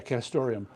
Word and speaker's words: castoreum: Yeah, castoreum.